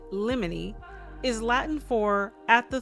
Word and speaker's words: limine: The word limine, pronounced limine or limine, and as you'll see I lean limine, is Latin for at the threshold.